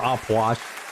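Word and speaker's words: Ah Puch: Oppuch! Or Opwash, if you want to pronounce it properly. I say Oppuch. I've said Oppuch, and I will continue to say Oppuch.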